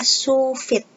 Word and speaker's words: sous vide: goreng lalu yang ketiga ada shuvit tulisannya sous vide tapi dibacanya supit ini merupakan teknologi memasak